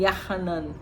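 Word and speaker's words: יוחנן: quando o próprio João, Yohanan, que é Yah, é gracioso, misericordioso, né? Esse é o significado do nome de João, que poderia ser pronunciado também Yahanan, né?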